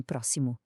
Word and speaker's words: próximo: E para complicar, pode até soar a SS como em próximo.